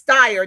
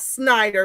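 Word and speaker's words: Steyer: You know he's Styer, not Snider.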